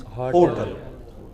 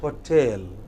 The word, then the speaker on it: hotel: Yeah, the wrong pronunciation is hotel. Correct pronunciation is hotel.